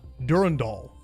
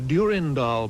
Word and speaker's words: Durandal: The blue 107B uh Durand Doll Durand. Now, interestingly, you can find some video footage of this on YouTube as well with their pronunciation of how the bomb is set. The Durandal bomb is intended to creep